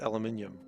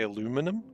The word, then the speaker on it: aluminium: It's funny how pronounced aluminium. Okay. I don't know what you mean. You mean how Americans say aluminum? Yeah, I agree, that's weird. I pronounce it the British way.